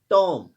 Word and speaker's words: tomb: TOMB, टॉम, इसमें B silent रहता है।